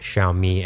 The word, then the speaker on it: Xiaomi: Because incumbents like Li Auto are being squeezed by tech giants like Xiaomi and Huawei. Notice I did pronounce those two brand names correctly. Do you know why that is?